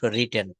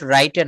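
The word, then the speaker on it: written: ইট এট eaten right রোট রিটেন এগুলো কেন কাজে লাগবে রাইট রোট রাইটেন না এটা বলবে রিটেন রিটেন হ্যা উচ্চারণটা হবে রিটেন হ্যা উচ্চারণটা কি হবে রিটেন রিটেন eaten রিটেন eaten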